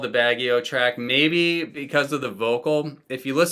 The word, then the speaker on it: Baguio: a baguette so like I Googled how to pronounce Baggio and I learned that it's actually Baggio in my head I was calling it Baguio I don't know I don't know what I